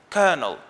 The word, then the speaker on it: colonel: up and learned that the correct pronunciation is not colonel there are two ways to pronounce this word the first way is kernel the second way is